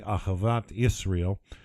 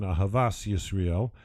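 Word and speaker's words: אהבת ישראל: childhood to call simply Ahavat Israel, or, in the Ashkenazi pronunciation, Ahavas Yisrael, the love of the Jews and of the Jewish people.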